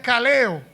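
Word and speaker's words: καλέω: Nuevo Testamento deriva de una voz griega que se pronuncia caleo caleo significa Llamar de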